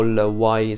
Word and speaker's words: Y: Di Yves Saint Laurent non consiglio l'Y o il Y se lo si vuole pronunciare in inglese, in particolare la versione Eau de Toilette e la versione Y Live.